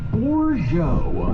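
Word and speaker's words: Bozho: Hello in Potawatomi is Bourgeois.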